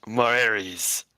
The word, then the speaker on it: Marares: Marares Zeuroma. It is pronounced Marares, like Mars and Ares put together.